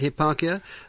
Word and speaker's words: Hipparchia: he was wooed by a virtuous maiden called Hipparchia. Is that how I pronounce it? That's right. That's yes. Right, Hipparchia, a wealthy, virtuous, young maiden.